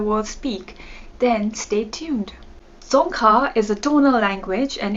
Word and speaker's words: Dzongkha: be learning some songka the national language of bhutan or some people even call it bhutanese but the proper term is tonka so if you're planning